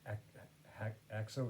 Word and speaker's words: Haxo: It's called Axo. It's spelled Haxo, Haxo.